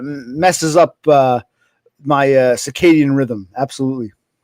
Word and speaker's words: circadian: Ciccadian rhythm. Circadian.